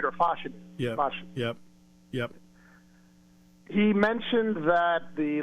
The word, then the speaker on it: Fashanu: I think my greatest thing after the game, help me with the pronunciation here. It's Olu Fashanu, right, or Fashanu?